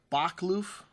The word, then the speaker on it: Boschkloof: them they'll very good this bulk kloof sera bak loof that's how you say it and this from